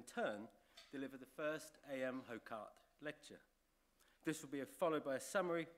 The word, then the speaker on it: Hocart: in 1883 in Belgium the G family who remain alive today prefer the pronunciation okar but I think we're going to stick with hocart his father was a